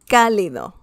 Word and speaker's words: cálido: Cálido, cálido, warm.